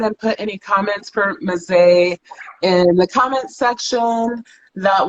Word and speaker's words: Mezei: So you told me that it's Mezei with a long Yes. A.